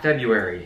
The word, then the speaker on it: February: February February February yeah February not February okay that was so weird literally thought I did not know that there was an R right after the b in February anyways it is February